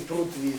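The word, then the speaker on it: पृथ्वी: Да, произношение имеет в виду. Ну, нас спрашивают Притви. Это мы говорим прутви.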